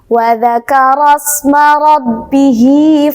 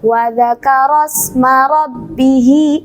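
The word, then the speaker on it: وَذَكَرَ اسْمَ رَبِّهِ: Nah, ini walaupun ada alif, ini ro-nya tidak dibaca panjang ya, karena di sini di depannya ada sin sukun. Maka dari ro ke sin sukun ini harus langsung ditekan.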